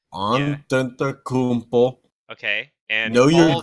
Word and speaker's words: Antetokounmpo: So we're starting with MVP, and our wheel decided to nominate James Harden, Giannis Adetokounmpo, if I can pronounce that correctly. Antetokounmpo, Yeah. Antetokounmpo.